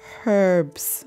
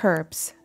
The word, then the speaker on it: herbs: this the the hanging herbs one uh why do we not pronounce the h in the united states that's a question i